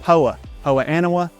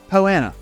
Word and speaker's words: poa annua: weeds like crabgrass and poa annua, poana. however you like to pronounce it, it's fine. I'll take either way.